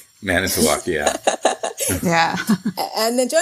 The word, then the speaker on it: Manitowoc: many talks serve Department series I hope I pronounced that right many talk right manitowoc yeah yeah and the join us today is